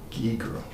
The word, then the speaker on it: Giger: Giger. Germans would pronounce it Geiger, but we call it Giger.